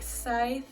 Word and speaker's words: Psythe: And it's spelt with the P because it's psychic. So psychic Psythe, so that's why I did the play on words.